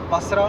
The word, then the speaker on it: Basra: syrup molasses from Iraq, from Basra, Basra, in Arabic that's the pronunciation.